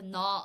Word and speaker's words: gnaw: here is not g the g is silent and we just say no no the antonym